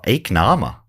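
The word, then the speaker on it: ēacnama: In Old English pronunciation, this rhymes with meek llama. Okay, so what llama? Nama. Oh, eek nama.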